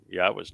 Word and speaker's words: Yahweh: And it's, not difficult to know how to pronounce Yahweh's name. It's the Yah and the Ah are from the verb haya, and the O sound comes from Torah.